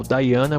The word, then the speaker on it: Diana: você vai ter aí a deusa do latim Diana que em inglês ficou daana por causa da pronúncia da letra i você tem